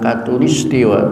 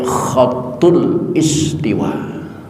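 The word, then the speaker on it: khatulistiwa: tulisan Katulistiwa itu yang yang benar bacanya bukan Katulistiwa tapi khatul istiwa Kak k tapi karena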